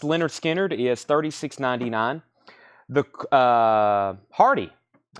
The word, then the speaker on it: Lynyrd Skynyrd: Lynyrd Skynyrd, pronounced Lynyrd Skynyrd, is $36.99.